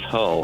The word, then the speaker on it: Hull: Hall J hey am I mispronouncing your last name first of all no you are correct it is Hall okay Hall well